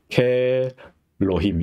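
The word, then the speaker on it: כאלהים: 근데 여기서 알렙이 묵음이 되면서 이게 장모음화 되는 거죠. 그래서 이건 아예 묵음이 되고, 그래서 케로힘 이렇게 있죠. 케엘로힘 이렇게 있지 않고 케로힘 이렇게 되는 거죠.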